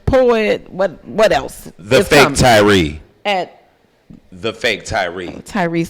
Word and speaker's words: Tyrhee: The fake Tyrhee. Tyrhee is how you spell Tyrhee. Tyrh. The H is silent.